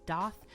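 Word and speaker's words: daith: The ridge on the inside of the ear here is a doth piercing.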